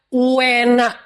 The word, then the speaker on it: uenak: Kalau enak tuh orang Jawa bilangnya enak, tapi kalau enak banget uenak. Jadi ada u-nya dulu, bukan enak tapi uenak.